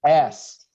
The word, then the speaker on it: as: As she sat down, as sounds like Z. Please, you pronounce it as.